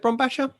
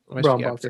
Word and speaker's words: Brombacher: As with the company's Resident Evil Showcase event in January, Brittany Bombacher, is it Bombacher? Brombacher. I think so. Brombacher, that's it.